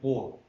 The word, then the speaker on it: Comte: Actual spelling is C-U-M-T-E, but it is pronounced like Comte. M is not pronounced C-O-T, Comte.